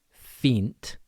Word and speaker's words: fínt: So, with fínt, there's the I with an accent, which sounds like two E's. We have E. Fínt. And then just N T.